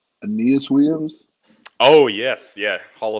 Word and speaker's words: Aeneas: I always say his name wrong, but it's Aeneas Williams. Oh yes, yeah, Hall of Fame corner Aeneas Yes, Williams.